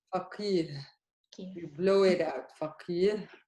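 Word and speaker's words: فقيه: Look at the difference. I said faqih. This is faqih. Hmm? The ha is much harder.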